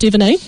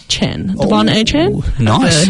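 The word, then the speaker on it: De'Von Achane: Uh, I'm going to start off with Deon Aan. Von Aan, he would like his name pronounced.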